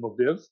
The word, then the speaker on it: Lviv: She grew up in Lviv.